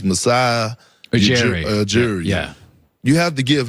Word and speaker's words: Masai Ujiri: I always have problems pronouncing his name, but it's Masai Ujiri.